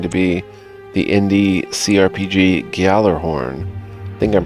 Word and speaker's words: Gjallarhorn: Lands is going to be the indie CRPG Gjallarhorn. I think I'm pronouncing that right. Gjallarhorn, G-J-A-L-L-A-R-H-O-R-N, Gjallarhorn.